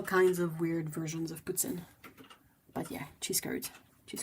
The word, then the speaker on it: poutine: I think people who say it with more of an English accent will say something like poutine, but it's weird for me to say it like that. It's way too used to hearing it in French Canadian, so yeah, poutine.